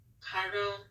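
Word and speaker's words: carro: next we have car which would be Cairo with the rolled ours but since I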